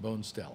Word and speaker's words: Bonestell: Or it might have been pronounced Bonestell. I used to think it was Bonestell, but I always have gone Bonestell because when I say it to people, if they remember it that way, they'll kind of know how to spell it, okay?